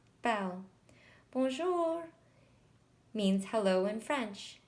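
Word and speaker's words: belle: it like this Amy Bell means beautiful in French you say it like this Bell Bonjour means hello in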